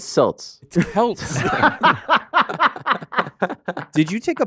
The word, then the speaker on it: Celts: think the Cals are situated uh it's actually pronounced selts it'ss did you take a picture of facts